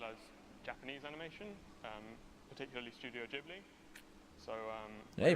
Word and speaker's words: Ghibli: comics, as well as Japanese animation, particularly Studio Ghibli. So Yeah, he pronounces it right.